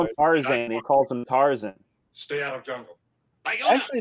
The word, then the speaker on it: Tarzan: So this is the mighty Tarzan.